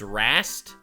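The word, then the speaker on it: Rhaast: In other words, after Azir's betrayal, the Ascended Warhost was left without a leader, and with It's Rast?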